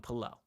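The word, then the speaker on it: Pelle: interview with Pelel, and they called him Pelel. So from now on, I'm calling him Pelel Larson. And if you don't like it, I'm sorry. But that's how he pronounces his name.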